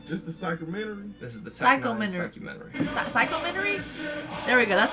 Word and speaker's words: Psychumentary: Psychumentary? There we go. That's how you pronounce it.